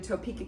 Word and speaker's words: Topeka: We're doing Topeka, Kansas first. Sounds like the word peak, so we're gonna just play peekaboo.